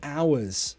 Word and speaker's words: hour: Oh, Andrew, do you pronounce the H in hours? No. Hour. Hour. It's like an ah sound.